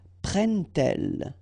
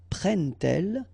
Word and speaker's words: prennent-elles: But then here, prennent-elles, okay? So you get your T and then prennent-elles, all right?